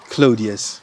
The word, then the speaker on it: Claudius: How do you pronounce the last name? Claudius.